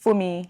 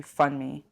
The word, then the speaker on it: Funmi: In a secondary school in Bromley, my Yoruba name pronounced Fumi is bent into Funmi.